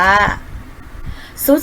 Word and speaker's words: ทรุด: คำ เช่น คำ ว่า ทรุด โทรม ค่ะ เด็ก ๆ ทรุด โทรม หรือ ทรัพย์ สิน ก็ ได้ นะ คะ หรือ คำ ว่า พุทธ ศาสตร์ นะ คะ ก็ คือ ทร ออก เสียง ซ อ๋อ นะ คะ เด็ก